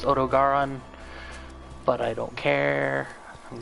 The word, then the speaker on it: Odogaron: Okay, I need to kill Odageron and Legiana, and I'm aware that that's probably pronounced Odogaron, but I don't care.